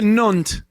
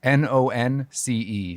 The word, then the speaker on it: nonce: Nonce. Nonce. Oh, nunce. It looked like you said nunt.